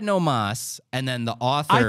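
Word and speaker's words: no más: mas no more no it doesn't actually say no Moss he said no mas and then the author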